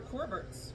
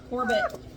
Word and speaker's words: Corbett: I'm not used to little Nora Corberts. Corbett. I'm saying her name wrong. Corbett.